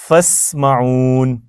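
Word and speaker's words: فاسمعون: अच्छा इधर भी देखें फस्म हमजा साइलेंट हो गया ना जी सर उससे पहले फ आया हुआ है तो बीच में इस हमजा को नहीं बोलते लिखते हैं लेकिन बोलते नहीं है ठीक है लिखते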